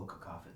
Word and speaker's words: cacophony: and I don't know how to pronounce the word, Cacaphony. Oh, cacophony. Cacophony.